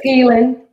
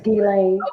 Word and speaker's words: Ghislaine: Epstein thing, and I don't know how to pronounce her name. That's the only reason I mentioned him. But it's Ghislaine. Her name is Ghislaine.